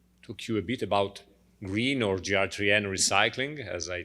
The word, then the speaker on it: Gr3n: he will explain his his firm is is called green recycling which is spelled trickily with a number three instead of a letter e but franco will explain